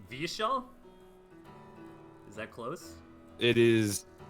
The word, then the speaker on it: Vyeshal: nerd street credit it's Vishal is that close it is though so all that the ye like what really what do we see a Y in the language it's always pronounced like yeah like like the like